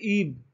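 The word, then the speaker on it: ebb: है, टाइड, है ना, और अपोजिट होता है ईब, या आप एब भी कह सकते हैं, एक ही बात है। जो भी प्रोनाउंसिएशन आप काम में लेते हैं, सभी इंडियंस के प्रोनाउंसिएशन अलग अलग है।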